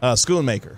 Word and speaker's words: Schoonmaker: Because I always want to pronounce that H like Schoon, Schoonmaker or Mocker.